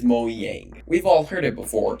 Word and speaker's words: Mojang: But because it is a Swedish company, then the way they pronounce it is Mojang.